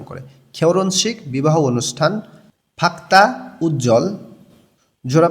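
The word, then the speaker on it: 결혼식: খেওর শিক বিবাহ অনুষ্ঠান রিউলের উচ্চারণটা জোরালো হবে হিউতের উচ্চারণটা হবে না বললেই চলে কোরিয়ানরা এভাবে উচ্চারণ করে খেওরন শিক বিবাহ অনুষ্ঠান ফাক্তা উজ্জ্বল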